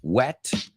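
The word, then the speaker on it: whet: your appetite so yes that H is silent it's totally silent wet w-h-e-t versus wet w-e-t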